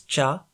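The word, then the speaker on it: 茶: variation of cha like chai in hindi zai in russian or kai in turkish both versions come from the same chinese character in mandarin and cantonese it is pronounced as cha so if a language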